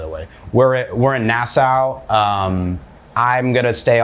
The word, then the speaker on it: Nassau: angle, but uh there's Yeah, we're we're in NAS Nasau. Um I always suck at pronouncing that by the way. We're we're in Nassau.